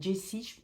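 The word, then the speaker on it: Jacy: va suivre on va Jess c'est Jess c'est j A C Y par que Jessie ça fait oui ça fait Jessie comme dans Stephen King donc c'est Jessie Jess Jess voilà on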